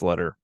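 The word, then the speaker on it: Leiter: the Bond movies letter I think it's letter but looks like it's spelled lighter but letter um is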